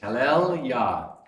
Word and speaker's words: Hallelujah: Hallel Yah. Praise. So this is praise, Hallel, and Yah. This is how we spell it, is J-A-H, but it would be Y-A-H.